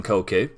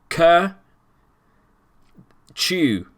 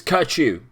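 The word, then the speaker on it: Kökçü: man i call him koku uh apparently that's not how you say it he says the o with the two dots above is pronounced like the u in burger uh you could just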